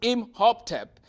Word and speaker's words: Imhotep: The physician Imhotep, pronounced Imhotep, lived thousands of years ago in Egypt.